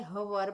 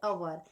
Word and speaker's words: hour: And here when we pronounce this word, we can't say hover but our.